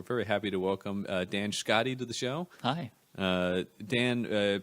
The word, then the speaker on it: Schkade: name to be sure it is Scotty right that's right and then what's the